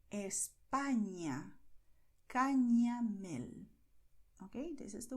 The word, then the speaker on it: España: And the letter ñ is pronounced as you hear here. España, Cañamel.